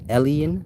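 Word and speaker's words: עליון: When you read in like ancient Hebrew literature, and you have that spirit Elyon, pronounced Elion, like alien.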